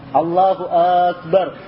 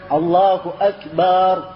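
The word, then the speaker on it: الله أكبر: membaca Allah Allahu akbar Ah ini banak ini I banyak terjadi seperti ini Allahu akbar bak panjang di belakang Allahu akbar harusnya tapi bak di kepany Allahu akbar ada kesalahan hati-hati ya sebab ini salah sedikit saja maknanya yakni menjadi berat ya sebab kalau dia katakan Allahu Akbar itu bentuk jamak dari kibr bentuk jamak dari kesombongan jadi Allah itu mempunyai banyak kesombongan begitu ya jadi maknanya sangat jelek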